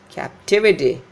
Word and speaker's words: captivity: That is captive, captive, captivity, captivity. This tive is stressed here. The syllable before this is stressed.